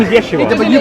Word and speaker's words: Yeshua: His name is Yeshua. But you pronounce it.